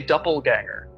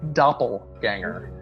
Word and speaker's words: doppelganger: Yeah, you recognize him as what is known as a doppelganger, or a doppelganger, as it's supposed to be pronounced.